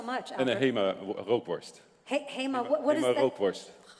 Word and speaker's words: rookworst: Hema rookworst. Hema, what is Hema that? rookworst. How do you pronounce it?